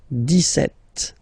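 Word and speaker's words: dix-sept: it's clear but then for the pronunciation deset okay so you don't insist on the S deset deset deset okay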